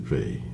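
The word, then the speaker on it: Weil: war and she didn't she was French she didn't pronounce her name the German Way so she pronounced it V and uh she talked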